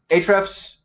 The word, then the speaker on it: Ahrefs: Ahrefs, the A is silent, by the way.